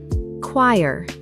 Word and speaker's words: choir: Choir. Starts with a K sound, not a CH sound. Pronounced K-W-Y-R.